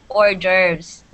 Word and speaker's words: hors d'oeuvres: you this is pronounced hors d'oeuvres can everybody say that orders so there's no there's no h and s in the first word it's orders okay what what are